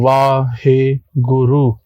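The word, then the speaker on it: Waheguru: You breathe in Vahe Guru. This is 4 syllable Vahe Guru, and basically you're trying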